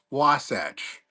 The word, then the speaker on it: Wasatch: How do you pronounce my name? Wasatch.